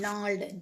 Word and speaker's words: gnarled: Then gnarled, G is silent, G-N-A-R-L-E-D.